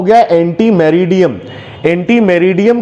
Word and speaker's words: meridiem: एंड मेरिडियन, मेरिडियम, MERIDIEM, मेरिडियम। So anti मेरिडियम, anti मेरिडियम ये full form है एएम का, एएम का full form हो गया एंटी मेरिडियम।